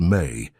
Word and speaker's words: me: In the esoteric traditions of the ancient Near East, there was a concept called the me, pronounced may, in Sumerian culture.